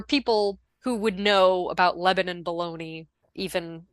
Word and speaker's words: Lebanon: But yeah, I don't know why that's it's and it's pronounced Lebanon, not Lebanon like the country.